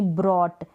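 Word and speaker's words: brought: फिर है ओ यू जी एच टी, जब भी आएगा ऑट पढ़ देंगे, बी आर को ब्र, यानी ओ यू को ऑ प्रोनाउंस कर रहे हैं, ऑ और टी को ट। यहाँ पर जी एच का आपको प्रोनाउंसिएशन सुनाई नहीं दे रहा होगा, यानी ब्रॉट, ओ यू को ऑ और टी को ट, ब्रॉट। यहाँ पर जी एच जो है वो साइलेंट है, तो बी आर को ब्र।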